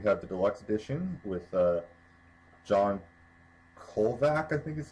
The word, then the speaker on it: John Kovalik: We have the Deluxe Edition with John Kolvac, I think is how his name's pronounced, artwork. He's, of course, the one who does Bork Tower. Kovalik. John Kovalik, okay.